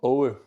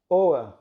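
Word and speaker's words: Aage: Owe. How do you say O? Owe. O-E. A-A-G-E. Owe. Oa.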